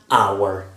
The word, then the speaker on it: hour: before vowel sounds so Anna hour d h is mute like I said before